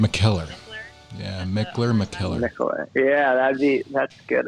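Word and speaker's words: Mikkeller: Sometimes some people call it McKellar, but it's McKellar.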